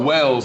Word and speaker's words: Wells: No, Wells, like I'm doing well. WELLS.